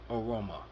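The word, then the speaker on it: Evbuomwan: Aroma, which is spelled E V B O E V B U O M W A N pronounced Aroma.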